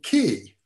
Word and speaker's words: ki: is your view on key ah key for those who don't know it or chi for the more chinese pronunciation of it is some kind of